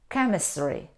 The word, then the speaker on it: chemistry: chemistry Saito stomach no though we see the combination C and H we don't pronounce here in these words we pronounce them psycho psychologist psychology stomach chemistry we don't pronounce we